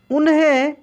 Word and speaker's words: उन्हें: यहाँ पे देखिए आधा न है तो इसको भी हम लोग तेजी में पढ़े, उन्हें, उन्हें, उन्हें नहीं, कैसे पढ़े, उन्हें।